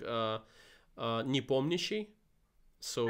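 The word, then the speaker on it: Nepomniachtchi: in russian when you when you when you pronounce it it's like uh uh nipomnishi so it's like that's right that's right that's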